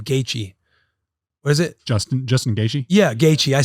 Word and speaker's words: Gaethje: We talked about all of his fights coming up, and I butchered. I can't believe I said the wrong name. Gaethje. What is it? Justin Gaethje?